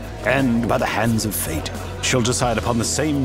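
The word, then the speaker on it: phở: And by the hands of fate, she'll decide upon the same musical number as retired fisherman Duc Nguyen. And with bellies full of foe. It's actually pronounced fa.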